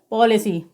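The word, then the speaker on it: policy: बाई ए रहा है तो ए का उच्चारण क्या होगा ए होगा तो पी ओ एल आई सी वे को हम क्या पढ़ेंगे पॉलिसी इसी प्रकार से ए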